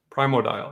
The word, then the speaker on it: Primordial: primordial primordial primordial anyway primo dial yes that's how you say it um of that